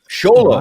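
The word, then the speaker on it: Xolo: I was mispronouncing the actor's name. Sholo.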